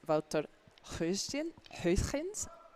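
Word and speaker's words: Wouter Gösgens: Now, I checked about how we pronounce this name, so my apologies, Wouter. I was completely mispronouncing your name 2 weeks ago in Baden, so I'm sorry about that. So 4th player for Netherlands is Wouter Huisgens.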